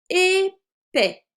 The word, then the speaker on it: épais: Épais. Le S est muet.